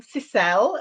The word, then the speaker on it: Sissel: and yes I am cisel that's how I've chosen to pronounce it like Michelle or Adele um I'm from Norway